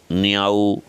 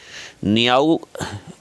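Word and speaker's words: Niaux: नियाऊ नहीं है, सही उच्चारण है नियो है।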